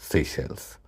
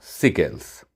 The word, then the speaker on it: সেশেলস: রুদ্র, বললাম, সিকেলস। তাও নয়। নয় কেন? কারণ শব্দটা ফর্সি, উচ্চারণ সেশেলস।